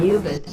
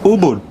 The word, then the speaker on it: Ubud: to show you a really cool place in eubank you mean ubud yes really sorry for the wrong pronunciation that's cool but how's the weather the